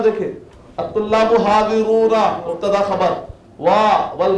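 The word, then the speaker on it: الطلاب: अल-तुल्लाब आपको बताया तो शमसी खमरी, अत-तुल्लाबा जुबान आके टकराई तो अल-तुल्लाबा लाम साइलेंट आता, अल-कमर अश-शम्स, ठीक है,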